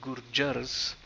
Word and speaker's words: gurjar: to go alphabetically the bengalis the dravidians the gurjars it is gurjar is the singular gurjars is the plural guru hence the a and after the j and the r at the end are gurjar gurjars and finally the hindustanis so let's look